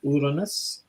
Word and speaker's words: Uranus: I believe Andy has Uranus, and I'm going to say it properly, Uranus, live for us.